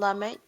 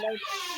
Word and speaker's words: Lamech: It's not like chi, but Lamech, I think. And Lamech said his wives, Ada and Zillah, listen to my voice. Wives of Lamech, and let your ears